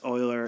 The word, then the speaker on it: Euler: some believe because it's named in honor of Oiler um and yes Oiler is spelled with an e um so what is